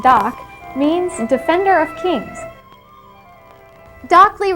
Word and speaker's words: Dok: bodyguards of the pharaohs the designation dok pronounced doc means defender of kings